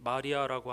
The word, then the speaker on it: 마리아: 그런데 예수 그리스도의 어머니 이름이 미리암의 헬라식 발음인 마리아라고 하는 것은 매우 의미심장합니다.